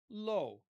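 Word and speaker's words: לא: Um but in Arabic the word is la like we'll we'll spell it la. In Hebrew it's low. Low.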